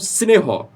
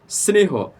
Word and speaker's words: স্নেহ: যেকোনো স এর সাথে যদি র ফলা কিংবা ত অথবা থ যুক্ত থাকে তাহলে কিন্তু সেখানে এস এর উচ্চারণটা আসবে যেমন স্নেহ স্নেহ দন্তস আছে এরপরে নিচে